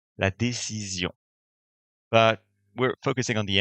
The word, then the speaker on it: décision: This S is sandwiched between two vowels, making it an S that you will pronounce Z. La décision.